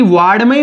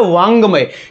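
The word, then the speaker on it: वाङ्मय: जैसे मैंने एक उदाहरण लिखा मित्रों, ये अब इसको कई वार्डमय बोल देते हैं। जो वार्डमय गलत उच्चारण है, ये होता है वांगमय।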